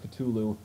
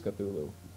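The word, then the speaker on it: Cthulhu: the word cthulu before some people believe it's pronounced cthulu if you're one of those people I'm sorry but it is cthulu so I don't care what you think uh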